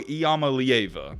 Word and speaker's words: Iamaleava: doing some research and i've heard people pronounce his name this way as nico iamalieva i'm still trying to